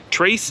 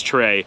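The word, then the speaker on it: tres: as trace in spanish here in nicaragua trace is often said as trey so trey simply is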